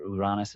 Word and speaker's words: Uranus: You've got Triton still goes retrograde around Uranus, or Uranus is the right way to pronounce that, and it's on its side.